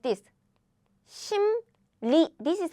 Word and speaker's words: 심리: Again, 심, you already closed your mouth. So when you pronounce the following sound very quickly, rolling your tongue requires a lot of work. So instead of rolling, you just quickly pronounce without rolling, like 심리, not 심리, 심리.